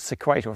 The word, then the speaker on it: Sequator: let me know that sequator is pronounced the same way as equator with an s on the front so I'm going to call it sequator from now on and